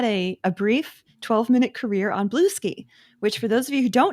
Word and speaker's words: Bluesky: She will totally mispronounce. Bluesky, like Bluey. No, it's Blue Sky. So Blue Sky, Yeah.